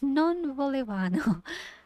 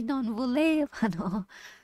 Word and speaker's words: non volevano: You see how when I say it, it's non voleva. That stress is on va, but that's wrong. That's when I'm doing it. That's my natural way of thinking. Oh, non volevano. But that's wrong. It should be non volevano.